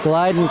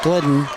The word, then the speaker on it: Glidden: Glyden comes to the bench. I should say Glidden is how they pronounce it.